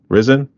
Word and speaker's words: Risen: Do you pronounce it Risen in a way? Risen.